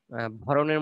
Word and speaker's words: ভরণ: লাগে মূর্ধরণ ন লাগে এবং ভরণের মধ্যে ওকার নাই ভরণ এখানে কিন্তু ওকার নাই ভরণ ঠিক আছে উচ্চারণের সময় ওকার আছে ভরণ ভরণ আর পোষণের মধ্যে তো লেখার মধ্যেই আছে আর উচ্চারণে ওকার হবে ভরণ পোষণ ভরণ পোষণ